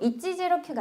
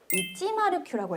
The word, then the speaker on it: 109: 그거를 109 이찌지로큐가 아니라 시브야 이찌마르큐라고 했습니다. 자이 동그라미를 마루라고 읽어요.